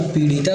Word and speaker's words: पीड़िता: सही उच्चारण क्या होगा तो पीड़िता का सही उच्चारण होगा पीड़िता यह वाला ढ नहीं आता ता य वाला पीडिता मनुष्य